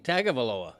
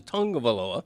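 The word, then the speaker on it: Tagovailoa: I mean, I I probably went the first year after he was drafted saying tagaloa, you know, event but eventually you learn that the way he pronounces it in the Samoan culture is tongue of Aaloa.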